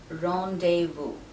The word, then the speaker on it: rendezvous: the first word is rendezvous it's pronounced wrong de vu the z in this word is silent and the s at the end is also silent and the ren is